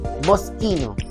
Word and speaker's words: Moschino: Ang pronunciation is Moschino.